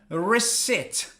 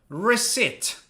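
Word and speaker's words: receipt: attention to the pronunciation reset reset is there a p no you do not pronounce the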